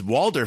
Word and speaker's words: Walder: It's Walder Frey. Come on, Mag. But Walder Frey, no T. That's Big D's habit of saying Walter Frey, which is the crossover Breaking Bad character.